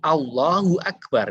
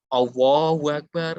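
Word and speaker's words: الله أكبر: Ta'ala di dalam Alquran Ya seperti Allohuakbar enggak boleh Allahuakbar Hai adegan yang ada Allohuakbar Allohuakbar dari Allah bukan allah' Rusia yang betul allohu akbar situ Kepencet tadi Muhammad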